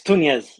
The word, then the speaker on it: Tuñez: it tunz tunz it's tunz you could pronounce it hard TZ okay how did I do Tunes they're good yeah it's like nun but with a t instead of a from